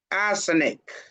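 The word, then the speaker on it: arsenic: Asenic. For asenic when you are pronouncing it be careful else you'll be talking about arsenal.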